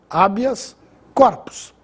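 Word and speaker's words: habeas corpus: sem acento abias corpos como se trata de uma palavra Latina ela não recebe acento gráfico mas a pronúncia é abias corpos habitat assim como habias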